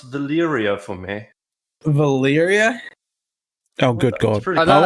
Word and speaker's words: Valyria: Could you pronounce Valyria for me? Valyria?